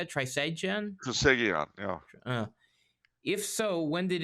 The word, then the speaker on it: Trisagion: Trisagion, yeah.